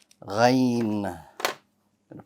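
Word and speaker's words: غين: That's good, because if you can pronounce kha with ease, kha, hold the air, and the letter ghain should be pronounced. Gha. I hold the air. Kha. You want to kind of feel it and get a sense where it is, and then pronounce it. Ghain. So I'm using the kha to help me pronounce the ghain, just as I use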